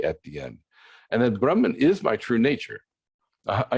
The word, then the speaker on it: Brahma: Oftentimes we'll say Brahma Ji. So it's Brahma, a long A at the end, and then Ji, meaning sir.